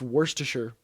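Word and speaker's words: Worcestershire: Oreo mayo do no anyway yeah it's it's worsture sauce worsture warest who would create such a um workers worker.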